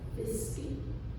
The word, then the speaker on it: Fiske: My name is Fiske rhymes with whiskey, so you don't forget.